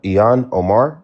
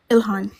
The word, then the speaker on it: Ilhan: what sparked this ultimately was what's uh Ian Ian Omar is that how you pronounce it I hope I'm pronouncing Ian Omar Ilhan Ihan thank you.